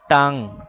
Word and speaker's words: টাং: দেখো এখানে নুনে গুন্না হচ্ছে না? নুনে গুন্নার অর্থ কি? ননে গুন্নার অর্থ হল নুনকে অনস্বরের মত উচ্চারণ করা। টাং।